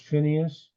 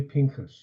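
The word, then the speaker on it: Phinehas: of God I'm sorry often it's pronounced Phineas it's really Pinkus that's his name um verse 5 and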